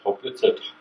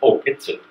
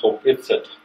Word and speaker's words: Hopitsit: One of the oldest villages that we come from is the village of Hopitsit. Properly pronounced like that, it's not Hopitsit, it's Hopitsit.